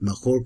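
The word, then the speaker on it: Mallorca: Jewish community of mahor mayorca they pronounce it mahor I don't really know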